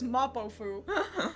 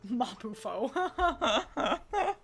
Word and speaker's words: Mapo: I It's Mapo and I always want to say Mapuo. Thank you.